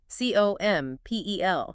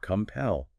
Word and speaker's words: compel: C O M P E L. Compel. Two syllables. Stress on the second.